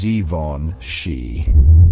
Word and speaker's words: Givenchy: G like the beginning of vision. Von rhyming with lawn, and she like sheep, but with a soft sh sound.